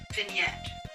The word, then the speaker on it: vignette: to hear the pronunciation vignette vignette vignette vignette yeah that's what it says all right so it's settled then yeah the g is not pronounced yes since i am